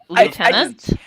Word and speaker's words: lieutenant: I say Lieutenant because. All of my English friends besides you say lieutenant. Yes. Like as if it has an F in it.